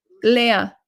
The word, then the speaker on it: Leah: And I just had to say, my name is pronounced, it's not easy to see. Leah.